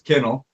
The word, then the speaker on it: Kinnell: And I mean, we had gone so long saying Canal, everybody gotten used to it, but it's Kinnell.